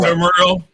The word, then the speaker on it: ephemeral: I mean, if basically the word how do you pronounce that word exactly? Ephemeral.